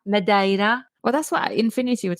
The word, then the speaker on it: Madeira: show do you know in my Portuguese lesson I learned that you pronounce that midaira well that's what Infinity